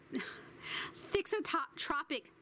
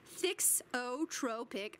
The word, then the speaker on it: thixotropic: a unique property called thot Tropic thixotropic action pronounced thixotropic all right I was close thick so Tropic means